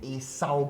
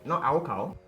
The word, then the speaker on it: acyl: He's going to show you how to put in an acyl group. Now notice my pronunciation, not alkyl. Acyl, the C, okay?